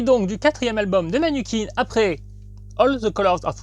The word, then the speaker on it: Manukeen: Il s'agit de Manukin. À ne surtout pas prononcer Manukin, parce que ça veut dire quelque chose mais pas du tout la même chose.